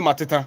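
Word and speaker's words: Mateta: man the French guy Philip mat mat way pronounce oh Philip Mata I mean that's that's the correct pronunciation mat you listening to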